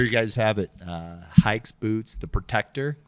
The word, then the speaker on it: Haix: x and it's either it's hikes like you're going hiking that's the best way to remember it otherwise it's hakes hacks hayaks you know